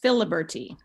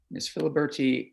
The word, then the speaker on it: Filiberti: names correct uh is it phil bertie uh pronounced filiberty illiberty miss filiberti uh welcome great that you're